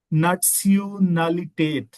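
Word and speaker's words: Nationalität: हवाले से बताऊं कि जब भी आपको जैसे इंग्लिश में हम टी आई को श बोल देते हैं नेशनल नेशनलिटेट जर्मन में आपने ने इसको सून बोलना है लाइक नटसलिटेट नटसिटेट या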